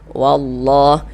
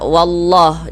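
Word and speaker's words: والله: Kemudian wallah ini kita baca wallah jangan dibaca walla jangan.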